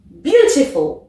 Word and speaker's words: beautiful: Là, c'est un mot de 3 syllabes. On accentue donc sur la première. Je te laisse pareil essayer. Beautiful.